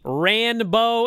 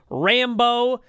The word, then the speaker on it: Rambo: about the rambo and you argued it was the rand bow and i kept explaining no on our front page it's spelled rambo like the guy rambo well here on wikipedia